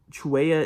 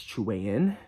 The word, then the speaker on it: Chilean: called Chilean Centipede, which I learned Chilean isn't the right way to say, it's Chilean.